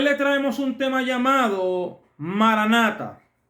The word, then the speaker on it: maran ata: Aunque en su pronunciación la han tergiversado, ¿por qué no se pronuncia Maranata? Porque no es una sola palabra, sino son dos. Marán, nuestro Señor ata viene maran ata.